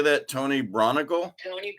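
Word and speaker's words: Braunagel: Tony Bronigal? Tony Bronigal.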